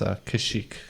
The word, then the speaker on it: Kashyyyk: Yeah, I believe in the native language it's pronounced but in common tongue it's Kashyyyk.